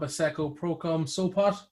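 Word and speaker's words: Asseco Prokom Sopot: For Club Asseco Procom Sopot. Yeah. How did I do that with that It pronunciation?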